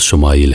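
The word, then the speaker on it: ישמעאל: خوشخبری سنا دی گئی۔ عبرانی زبان میں اسماعیل کا تلفظ شمائیل ہے۔ شما کے معنی ہے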